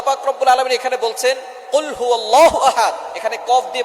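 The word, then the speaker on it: قُلْ هُوَ: দিচ্ছেন এখানে আল্লাহ পাক রাব্বুল আলামীন এখানে বলছেন কহু আল্লাহু আহাদ এখানে কফ দিয়ে পড়ছেন কিন্তু অনেকেই ভুল করে উচ্চারণ সঠিক না হওয়ার কারণে তারা পড়ে কাফ দিয়ে কহু আল্লাহ ক শব্দের অর্থ হচ্ছে খাওয়া আপনি খান্লাহু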